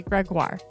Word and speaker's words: Gregoire: magazine plus today's guest Sheila Ray greguar pronounced like jaguar Sheila is the author